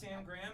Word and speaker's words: Graham: it sounded too Jewish Graham it rhymes it's cute it's kitschy you know my mom was dr.